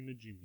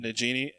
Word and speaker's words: Najimy: Kathy Najimy. Najimy. How do you spell that? Najimi. Najimy? Najimy. Okay. I thought you were saying like Nagini, like the snake from Harry Potter.